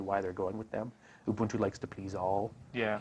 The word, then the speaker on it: Ubuntu: And yes, it's pronounced Ubuntu.